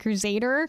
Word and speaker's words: Kruzadar: I personally pronounce it like Crusader because like ZZZ.